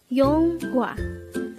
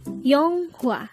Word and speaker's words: 영화: number 112 Yong yonga this is pronounced as a two syllable word the first syllable is Yong the second syllable is H pronounce it with me yonga the word y is